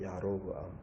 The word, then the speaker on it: 여로보암: 그런데 이걸 여로보암을 정확하게 발음하면요. 야로브암이에요. 야로브암.